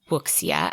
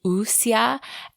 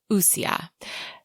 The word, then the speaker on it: wuxia: And actually, after going back through some YouTube videos, I found out we were pronouncing it wuxia, and that is very wrong. So a more correct pronunciation of that would be wuxia.